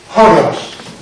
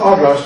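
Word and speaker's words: ὅρος: That's horos. You see this rough breathing here on the top? This little comma? That's a rough breathing. We pronounce that horos. Not oros, but horos.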